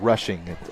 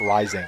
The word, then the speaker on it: Rushing: I'm saying rushing. It's rushing. Gotcha. It's I was saying the name wrong, folks. I was just told by our spotter. I was saying Josh Rising. And the reason I'm saying that is I have a friend named Josh Rising.